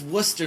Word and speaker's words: Worcester: in the sauce in the sauce but it's Worcester Mass and we just sauce exactly there's no